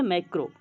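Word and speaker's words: macro: माइक्रो, देखिए माइक्रो या MICR उससे मैं बोल रहा हूँ, माइक्रो है ना, माइक्रो, और ये है मैक्रो, ये है मैक्रो।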